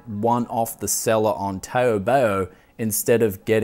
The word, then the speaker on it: Taobao: But apparently there is a seller on Taobao, and we'll quickly interlude with a little bit of a rap tune for that pronunciation. Taobao, wow, clipping high, bowling low, where my house is at, deal with me now.